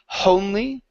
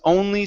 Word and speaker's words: only: You added an H here, saying was honly. Okay, remove that H. It's she was only 16.